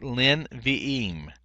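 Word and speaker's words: לִנְבִיאִים: So basically, what normally you'd have two schwas here, one for the inseparable preposition here, le, and then the vocal schwa under nevi'im. Well, what happens is the first one lengthens, and the second one becomes non-vocal here. And so that's what we have here in this rule here. So it's lin vi'im. Lin vi'im is how you'd pronunciate that right there for the four prophets.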